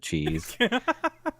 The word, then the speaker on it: Chaz: up to his standards it's actually Chaz with one Z but they pronounce it cheese so a Smith